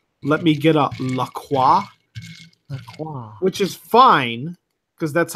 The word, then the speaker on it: LaCroix: who have actually said let me get up Lacroix which is fine because that's how you say